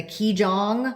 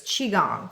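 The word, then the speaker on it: qigong: we've been taking the key Jong mhm class I've been taking a keij Jong is it kij Jong that's how I pronounce itong chong chong it's spelled Qi so it's chiong I've been taking this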